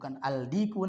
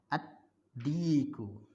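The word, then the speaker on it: الديك: Ad-diku. Ad-diku. Bukan al-diku nanti, tapi ad-diku.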